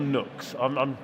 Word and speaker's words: Nooks: Is it nukes or nooks? How do I pronounce it? Nooks.